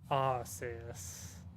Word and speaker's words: Arceus: that which humans call aussius by the way i'm going with the pronunciation of how the romanji or the katakana the original japanese pronunciation of arceus deal with it deal